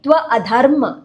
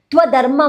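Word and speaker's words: अधर्म: So make sure that you say Tva Adharma. You don't say Tva Dharma Marganashakam.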